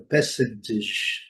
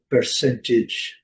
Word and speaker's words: percentage: No inglês britânico, o R não é pronunciado. Então, percentage, percentage, desculpa, percentage, percentage. E no inglês americano, percentage, percentage. Aqui podem colocar um D aqui que funciona bem.